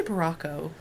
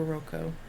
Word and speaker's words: Barocco: baraco ultra barocco Ultra I always say baraco but I guess it supposed to be barocco I know it should